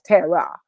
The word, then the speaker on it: Terrah: And no, my name is spelled Terrah. It's not Terrah, it's Terrah, but it's the same.